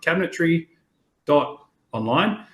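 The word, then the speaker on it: Cabinetry.online: for that one is we pronounce it with a DOT because that's the domain so if you go on to your web address URL and you write Cabinetry Dot online you will land on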